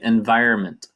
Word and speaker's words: environment: And real quickly here, Vidya, the pronunciation here in American English, we say environment. Environment. Yeah. So we don't pronounce that N. We just say environment.